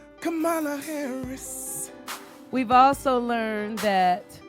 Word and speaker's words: Kamala: Okay, we've learned that this lady's name is pronounced Kamala Harris.